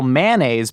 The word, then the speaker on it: mayonnaise: a 2-syllable mayonnaise because I'm completely forsaking the Y. I'm not pronouncing the may. It is obviously may, even though it's named